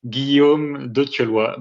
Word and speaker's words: Guillaume de Thieulloy: First of all, my name is pronounced this way, Guillaume de Thieulloy, but I understand very well that a lot of people cannot say it.